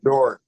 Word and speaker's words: Doeren: You go and Doeren, am I pronouncing the Hey, name? Doran.